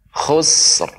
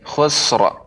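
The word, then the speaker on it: خسر: Khusr. Khusr. Khusr. Iya. Sekali lagi Ibu, innal insana. Innal insana lafi khusr. Jangan terdengar sampai khusra. Khusr. Khusr.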